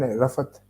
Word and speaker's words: Rafat: That is how you say it, Rafat.